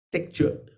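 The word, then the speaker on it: Trekchö: Pues en el centro del Tíbet dirían Tekchö y dirían Togel.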